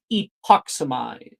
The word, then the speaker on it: Epoxy: very first spell now the spell is pronounced epoxy now say it with me epoxy epoxy epoxy